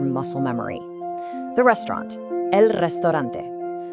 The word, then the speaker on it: restaurante: The restaurant, el restaurante. Try really rolling that R, restaurante.